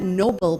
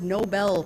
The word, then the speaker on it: Nobel: It's actually not Nobel Prize, it's pronounced Nobel Prize.